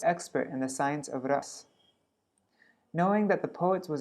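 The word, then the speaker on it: rasa: This was to ensure that the spiritual exchanges of ras, there should not be a long A there.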